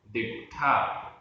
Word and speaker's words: दिट्ठा: दिट्ठा, आधा ट ठ, दिट्ठा।